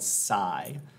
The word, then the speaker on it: psi: variable, okay, it's a Greek letter, it's called psi. Actually looks like a psi, like a weapon, and it's pronounced the same way.